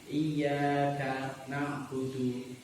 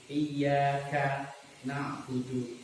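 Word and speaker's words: إِيَّاكَ نَعْبُدُ: Jadi membacanya mestinya iyyaka na'budu, iyyaka na'budu ditekan.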